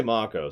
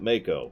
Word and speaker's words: Mako: I Don't Dance well they say Marco so that's what it is but I've always pronounced it Mako since you know the shark I mean just duh